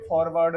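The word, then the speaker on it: foreword: एक वर्ड यहाँ पे फॉरवर्ड नहीं होगा, यहाँ पे सेकंड पार्ट एक होता है FOREWROD। फॉरवर्ड इसका प्रोनाउंसिएशन है, जिसका मतलब होता है प्रस्तावना।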